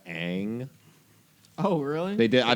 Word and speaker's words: Aang: than the show honestly i like that they pronounced as ong instead of aang oh really they did